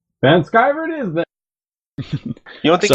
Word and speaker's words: Vanschiver: an american so everybody's gonna go with the german pronunciation not the random american pronunciation well i'm american so van skyverd is that you don't